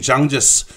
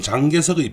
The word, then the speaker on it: 장제스: 후일담입니다만 리위안홍은 그 이후에 장제스, 우리 발음으로는 장개석의 배려를 받아서 상해에 있는 영국 조계로 가서 마지막까지 편안하게 살다 죽었습니다.